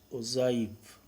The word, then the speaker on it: ogive: So, it is pronounced as ogive, and since it is related to cumulative frequency